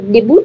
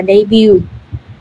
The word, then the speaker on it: debut: Hay đọc là debut đúng không? Nhưng mà trong tiếng Anh đọc là debut.